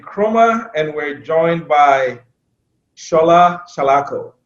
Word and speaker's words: Shola Salako: is jermaine and kruma and we're joined by shola shalako right right have it right yes you got the right pronunciation of your your name oh shall i